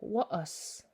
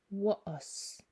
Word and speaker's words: wa'as: And then there's the glottal stop. This is often used to separate one vowel from another or emphasize a little break in syllables. For example, tla'amshui. Tla'amsh, to respect. Tla'amsh. Or wa'as, bowl, wa'as. You'll often see in sentences,